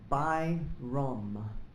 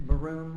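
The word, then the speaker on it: Byrom: to accessories they're saying nobody pronounces my name right by Rome be why our om most people mispronounce it and they say like mister barone I didn't know that's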